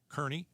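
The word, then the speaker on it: Kearny: Rhymes with Ernie. Kearney.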